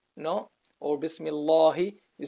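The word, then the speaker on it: بسم الله: You don't say Bismi Allahu, or you don't say Bismillahu, no, or Bismillahi.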